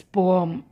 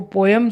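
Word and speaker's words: poem: Will I recite this पोअम, इसको पोअम pronounce करते हैं। शायद आपने बचपन से बहुत साल तक इसको पोएम सुना होगा, बट the correct pronunciation is पोअम।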